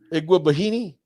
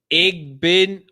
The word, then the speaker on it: Igbinoghene: Iguabahini? No. Okay. Noah Igbinogany. Noah Igbinogany. There you go. That's not too bad.